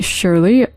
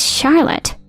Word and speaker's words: Charlotte: what are you saying Shirley I'm your dad right it's not shley it's Charlotte I don't have a